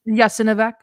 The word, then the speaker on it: Jasenovac: we were killed brutally in, what's that place pronounced? Jasenovac.